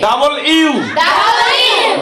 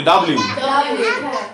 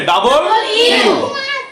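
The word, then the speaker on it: W: ভি ভি ডাবল ইউ ডাবল ইউ। আমরা এটা কি বলি? ডাব্লিউ। কিন্তু কি হবে? ডাবল ইউ।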